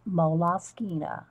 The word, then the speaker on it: Moleskine: I call them moles, but I think it's really actually pronounced. I did look it up. I actually did. Moleskine.